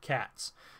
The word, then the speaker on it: Khat: telepathic bond with great cats, which are in the story called Cats, but it's spelled Khat.